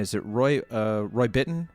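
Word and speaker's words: Bittan: Max Weinberg and is it Roy uh Roy bitten right is that how you pronounced his name yes y this was this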